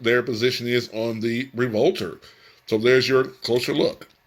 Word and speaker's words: Revolver: It is Revolver, not Revolter. I don't know why I was saying Revolver Revolter versus Revolver, but it's Revolver. That's the actual correct pronunciation of it.